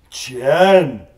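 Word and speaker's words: 钱: Chen.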